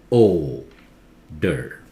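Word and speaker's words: odour: one older oh dear see that here o is called pronounces very loud Oh der oder and smell this one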